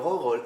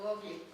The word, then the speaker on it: Gogol: ¿Gogol se escribe Gogol Gogol. o Gogli? No, Gogol. Gogol. Así, G-O, acento, G-O-L.